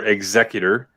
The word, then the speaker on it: Executor: it's on the star destroyer executor and yes that's the way you pronounce it so here we go